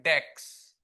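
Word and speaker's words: DAX: इसीलिए वहां पे एक ऑपरेशन का नाम है डेक्स। डेटा एनालिटिक्स एक्सप्रेशन E नहीं है। ई साइलेंट है तो X लेते हैं वहां पे।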